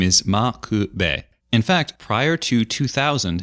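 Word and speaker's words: M'Quve: part of the name there's no V sound in Japanese so when pronouncing loan words with V sounds in them you'll usually use the B sound and so to our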